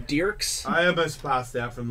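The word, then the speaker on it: Dierks: It's pronounced Dirks.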